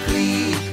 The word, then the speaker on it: Klee: My name's not Klee, it's Klee. It's spelled like Klee, K-L-E-E, but it's not pronounced that way.